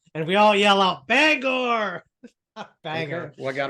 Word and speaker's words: Bangor: I mean, I only know one town in Maine, Bangor. You don't even know how to pronounce it. You said it right the first time. Bangor. Okay. Yeah. That's what out-of-staters call it. Bangor.